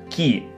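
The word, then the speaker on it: 木: И читается как «ки».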